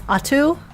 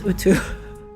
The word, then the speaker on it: Atu: It's Atu. I always thought it was Utu. I've always pronounced Utu.